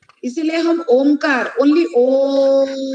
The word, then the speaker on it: ओम: इसीलिए हम ओमकार, ओनली ओम, ये ओम का जो उच्चारण है, ओम तीनों लेटर के लेकर होता है, अ प्लस उ प्लस म।